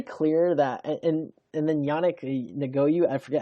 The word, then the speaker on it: Ngakoue: But it's very clear that, and then Yannick Ngakoue, I forget how you say his name.